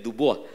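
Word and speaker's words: Du Bois: Bapak Ibu Saudara yang terkasih di dalam Tuhan, seorang pria kulit hitam bernama William Edward Burghardt Dubois ya, bacanya mestinya Dubois.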